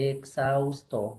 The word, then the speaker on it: exhausto: Así, exhausto. Así dice, mira. Así, ¿no? Ya. Exhausto, así. Listo. La X entre vocales va con la segunda. Así. La H como si no existiera.